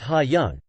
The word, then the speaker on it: Haeyoung: Yesterday after school, Haeyoung, pronounced Ha-young, came up to me